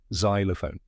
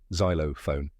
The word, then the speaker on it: xylophone: step correct pronunciation is xylophone let's break it down first zy rhymes with Sky next low a soft